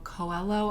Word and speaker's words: Coelho: it in mind also the alchemist by paulo coelho i think is how you say his last